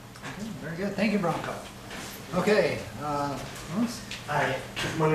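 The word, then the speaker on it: Branko: Well, first of all, my name is Bronco. For those of you who don't remember, yes, that's my actual name. It's not. It sounds like the horse, but it's spelled like a Croatian style, B-R-A-N-K-O.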